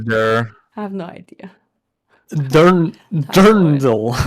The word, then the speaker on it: dirndl: How do you say the dirndl part?